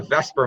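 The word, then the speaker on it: VSEPR: tell you this is called the Vesper model so this is spelled wrong it's Vesper veser model and Logan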